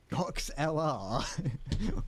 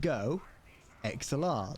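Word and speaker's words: GoXLR: what go hold on why do I pronounce go XLR weird Cox LR what what it's not pronounced LR it's pronounced go XLR the company is go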